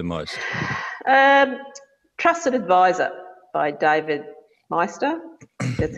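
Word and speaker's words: David Maister: helped you the most um trusted advisor by David Meister that's how you pronounce it that's a great book it's a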